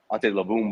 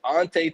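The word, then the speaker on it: Antetokounmpo: People were still calling him Ante Labumbo or Ante Tupumpo. It's like, yo, it's Ante Tupumpo.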